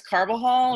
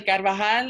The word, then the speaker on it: Carvajal: still horrible i mean my last name is carvajal and it's actually carvajal and i don't uh